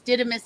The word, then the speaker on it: Didymus: It's Didymus as in the vas deferens, Yeah, so what connects balls?